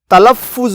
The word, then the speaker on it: تلفظ: پڑھا جا رہا ہو۔ لفظ تلفظ میں فے پر تشدید ہے، یعنی فے 2 بار بولا جا رہا ہے۔ تلفظ، پہلی دفعہ ہلکی